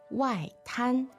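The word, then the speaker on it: 外滩: 外滩 fourth and first.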